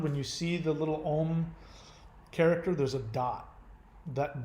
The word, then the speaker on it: Om: So it's pronounced Om, not Aum.